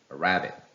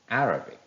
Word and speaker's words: Arabic: why it is important well let's imagine a three-syllable word a-r-a-b-i-c well if you place the stress on the